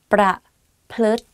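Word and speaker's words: ประพฤติ: Praput, pra, and then plut, like L sound within the word. So it's like praput.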